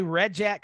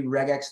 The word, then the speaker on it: regex: people say red Jack some people say regex uh Paul what camp are you in I'm in the rig in that hard G because it's regular Expressions so I figure it's base best to be regex though there's a chance